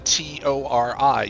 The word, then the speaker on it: Tori: So you don't want the T O R I. You want the toy instead. This is how it's spelled.